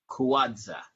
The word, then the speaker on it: Kawadza: There's also another name, your real government name, which is Eve Kawadza. Did I pronounce it right?